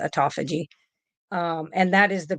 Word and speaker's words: autophagy: they call autophagy um autophagy is what some people I pronounce it autophagy um and that is